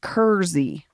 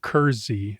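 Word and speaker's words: Kersey: Kery is pronounced Kery. I grew up there and went to school there. We were saying Kersy. Maybe Kyle Clark said Kerzy and I was like, I've only heard it said Kersy.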